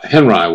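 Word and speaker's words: Henri: funny sounding name h n r i not pronounced only like the French photographer Florence Florence HRI because his real name was Robert Henry Kad and he was from uh I think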